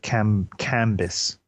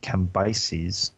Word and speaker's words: Cambyses: armies of Pharaoh, which follows the armies of Cambis, or as Scotty would like to say, Cambyses. Keep in mind, it's spelled C-A-M.